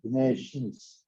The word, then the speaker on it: Bineshiihns: All you have to do is use the nasal sound at the end and use both your nose and your mouth, and you'll come up with that word. Bineshiihns.